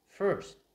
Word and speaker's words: first: Mình có thể phát âm là first, là những cái từ mà được nhấn trọng âm, là những âm được nhấn trọng âm ở đây. Và mình sẽ có cái hiện tượng là mình sẽ phải căng cái cơ của lưỡi mình chút.